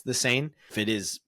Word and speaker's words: Seine: It's the Seine. If it is pronounced safe for swimming, or if it is not, maybe next time we'll keep you updated.